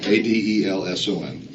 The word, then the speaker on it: Adelson: Actually, it's spelled right. I said it wrong. Adelson.